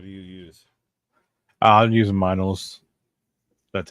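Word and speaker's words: Meinl: symbol wise what do you use I'm using minals that's how you pronounce it the m n l yeah vyl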